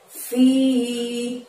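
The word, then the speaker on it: فِي: Di ayat 9 ini ada lafadz fi. Di situ bacanya panjang 2 harokat ya teman-teman.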